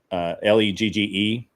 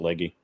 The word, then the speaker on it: Legge: Like I met, and we were going to work with this girl named Catherine Legge, Legge. Some people pronounce it Leggy, but Catherine Legge.